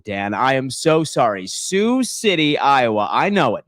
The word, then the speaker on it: Sioux: It's pronounced Sioux, Dan. I am so sorry. Sioux City, Iowa.